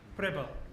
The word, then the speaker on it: Pribyl: Pribyl.